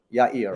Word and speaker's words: Yair: then always the same my name is better pronounced when you say yeah and ear Ya Ear yeah yeah yeah yeah